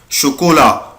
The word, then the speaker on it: chocolat: شوكولا شوكولا شوكولا. يبقى انا دلوقتي استفدت يا ولاد، عرفت ان السي اش اما بتجيلي مع السي بعدها اش بنطقها ش.